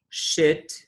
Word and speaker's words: should: in could should would remember that the l sound is not pronounced so we say could should would and of course we've